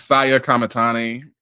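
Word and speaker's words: Saya Kamitani: And Saya Kamati, how do you say that? Saya Kamatani And Yeah.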